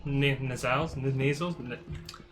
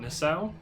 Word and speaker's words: nacelle: these many warp there's nasals i want to say nasal but nacelle i think that's how you pronounce it similar to that